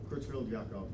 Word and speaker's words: Creutzfeldt-Jakob: But, so Creutzfeldt-Jakob disease, pronounced with a Y instead of a J.